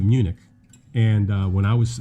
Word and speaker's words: Munich: some of the vowels to make them from a short vowel to a long vowel so instead of uh munchen of munchen you know but with the two homeworks there so uh but we pronounce it munich and uh when i